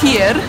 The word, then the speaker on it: Tiger: Generalnie to jest duński koncept i przedtem, zanim nazwane to był Flying Tiger, to nazywało się tego Tiger, a po duńsku, jak się wymawia Tier, to oznacza dycha po polsku, czyli 10 koron inaczej.